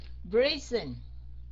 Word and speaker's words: brazen: Brazen. Chữ S ở đây mình sẽ đọc thành chữ Z.